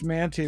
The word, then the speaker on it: Mantey: me if I pronounce this right the Julius our man chair of New Testament at Northern Seminary yes Julius manty was a Greek scholar wrote a famous book